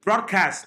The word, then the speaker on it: broadcast: I am done you broadcast not broadcast broadcast broadcast stress syllables broadcast broadcast is not stress broad is stress broadcast broadcast so you